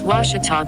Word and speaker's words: Ouachita: university along your route some folks think the o is a queue and they say quashital hey wachita watch it talk back in texas everybody pronounces it wichita but really it's ouachita washington washington how would you pronounce it it's washita baptist university get it right it's